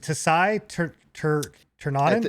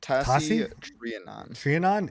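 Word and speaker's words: Tasi Trianon: Is it Tasai Ternanen? It's pronounced Tassi Trianon.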